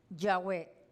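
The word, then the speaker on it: יהוה: que es también señor aparece sin vocales aparece nosotros la escribimos con vocales pero originalmente la palabra yah yah es sin vocal que es yah es como yah no tiene vocal es como así es silencioso es como cuando yahwe como cuando uno respira Entonces es originalmente es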